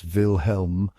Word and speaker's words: Wilhelm: From that day on, Steve referred to William as Vilhelm, pronounced with a long L. Hey, Wilhelm.